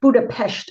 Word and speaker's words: Budapest: Well, they they say Pesh, Buddha Pesht over there.